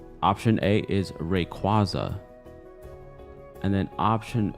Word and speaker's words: Rayquaza: Ask so many people, why do you call it Rayquaza and it's Rayquaza?